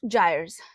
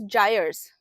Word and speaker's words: gyre: The Coriolis deflection and the birth of gyres. This is the word, okay? It is pronounced as gyres.